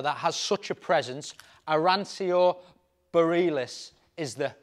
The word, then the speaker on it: Arancio Borealis: has such a presence arancio Bareilles is the pronunciation the Italian name for it it's a pearl capsule